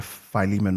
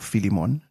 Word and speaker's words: Philemon: uh all the way to Philemon or Philemon depending on you know where you went to school determine how you pronounce that um which has one